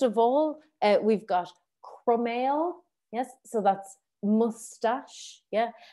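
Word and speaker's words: croiméal: all uh we've got cromell yes so that's mustache yeah and the way we pronounce it is crumb like a crumb of bread and ale like beer yes so crumb ale yeah anawa and then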